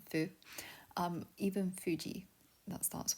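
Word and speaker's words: ふ: it's not my favorite it's called like Kung Fu for pronunciation um Fu um even Fuji that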